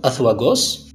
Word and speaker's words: Azuagos: Ce terme, Azuagos, qu'on peut prononcer en français Azuagos, semble être à cheval entre l'appellation arabe Zouawa et son synonyme kabyle Igawawen.